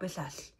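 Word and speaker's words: Biswas: I wasn't sure how to pronounce that W, whether to pronounce it like a W or pronounce it like a B, but he says it completely different. Bob Bissas.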